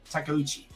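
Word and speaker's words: Takeuchi: I'm making sure I say it right cuz I know Japanese so I make sure I say it I say it correctly. Okay. Uh now Takuchi.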